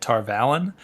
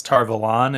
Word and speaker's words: Tar Valon: fairly early and so i always said tar vallen but it's tar valon if you listen to robert jordan he's wrong and actually